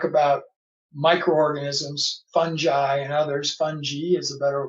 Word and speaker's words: fungi: as we talk about microorganisms fungi and others funghi is the better pronunciation today all right when I grew up in science four years ago we called fungi fungi so I will say that more often than